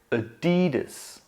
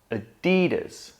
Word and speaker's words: Adidas: All together, Adidas. Adidas. I'm sure you've noticed that the primary stress is on the D. So one more time, Adidas. Adidas.